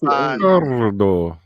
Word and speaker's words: Ricardo: Ricardo. You must roll your R's there, Pete.